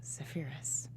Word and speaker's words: Zephyrus: She's the daughter of Thalamus and Electra, and is married to, I'm going to say it wrong, Zephyrus. However you want to say it. It's like Zephyr added us.